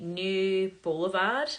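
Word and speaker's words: Neue Blvd: got this styling company, New Boulevard, I believe it's pronounced, N-E-U-E, New B-L-V-D, Boulevard.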